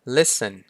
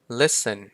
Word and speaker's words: listen: ครับ ผม ก็ คือ ตัว T ไม่ ออก เสียง อย่าง เช่น Fashion Fashion